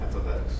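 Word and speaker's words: f(x): Someone remind me how you pronounce that. Yeah. F ofx.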